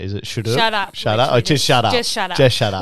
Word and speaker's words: SHUTURP: Or just SHUTURP?